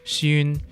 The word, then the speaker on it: 酸: Also, in Cantonese, the word for sour shares the same sound as grandchild, xun, so the slightly sour